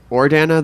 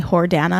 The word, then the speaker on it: Jordana: So Jordana, is it Ordana? The J is silent. You know, I lived in Spain when I was in high school, and they called me Jordana, and I hated it. So let's not go back there.